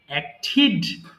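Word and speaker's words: acted: অ্যাক্ট অভিনয় করা অ্যাক্ট অ্যাক্টিড অ্যাক্টিড এবং টিডি থাকলে আমরা কি জানবো জানবো হচ্ছে ঠিক উচ্চারণ করব ঠেড না কেমন এবার দেখো ডিসলাইক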